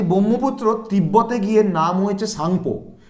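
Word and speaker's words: Tsangpo: তিব্বতে গিয়ে নাম হয়েছে সাংপো সাংপোটা শুরু হয় এরকম টি এস এ এন জি পি ও সাংপো তো সাংপো থেকে নিলাম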